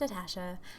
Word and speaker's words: Natasha: guys, it's Natasha, pronounced Natasha.